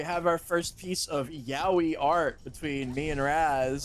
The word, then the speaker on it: Yaoi: Ladies and gentlemen, we have our first piece of yaoi art between me and Raz. Oh God. Yaoi rhymes with owie.